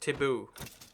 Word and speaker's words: Thibaut: Oh, it's pronounced Taboo.